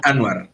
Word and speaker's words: Anwar: Se dice Anwar.